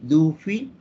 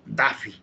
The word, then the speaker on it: Duffy: Por ejemplo, se mencionaba del sistema Duffy, se escribe así, Duffy. Nosotros leemos, ya nos hemos un poquito distorsionado, un poquito no estamos en English, digámoslo así, decimos Daffy, ¿no?